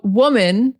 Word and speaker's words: woman: So woman, singular, it starts with the sound. W, men, woman, men. It's not so much like men, it's more like men, woman, men, woman. There's a woman over there, a woman.